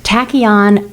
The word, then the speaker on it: tachyon: Tachyon, it rhymes with wacky, and it's spelled Tachyon.